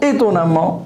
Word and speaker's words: étonnamment: Étonnant, étonnamment. Étonnant, avec ANT. Et ça donne A2MENT. Doux.